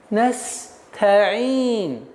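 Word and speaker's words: نستعين: Так как звук «син» свистящий, и вот это звук «с» должен присутствовать. Вот этот промежуток времени дает вам возможность легче, спокойно, мягче произнести звук «та». Настаин. А как только вы уменьшаете правильное произношение, время правильного произношения звука син, та будет та, настаин, что является очень грубейшей ошибкой и очень сильно искажается смысл.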